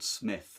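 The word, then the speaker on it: Psmith: My favourite character actually is someone called Smith, spelt with a P, P-S-M-I-T-H.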